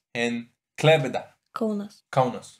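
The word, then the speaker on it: Klaipėda: He doesn't pronounce them well, guys, but it's Kaunas and Klaipeda.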